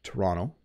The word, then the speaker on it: Toronto: how to pronounce this you might say Toronto I I'm going to go to Toronto but we actually say Toronto Toronto Toronto so you notice that the second T does have a D sound Toronto if